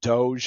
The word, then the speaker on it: DOGE: government efficiency I'm going to say it wrong Doge I think is how you're supposed to say it but uh cutting costs and its implications so the this this could impact the broader economy right because doge is is tasked with reducing government expenditures and